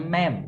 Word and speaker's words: ma'am: Dibacanya ma'am, bukan mam.